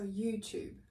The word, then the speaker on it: YouTube: worth noting here is the way we say youtube in british english is with the chu sound just like you would say in the word choose can you try so